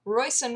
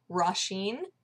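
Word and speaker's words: Róisín: favorite music artists that I've been calling royon Murphy this whole time that's apparently not how you say her name at all and I don't know if I can retrain myself I still think in my mind royon when I like think of her apparently it's rashen is that right I you guys are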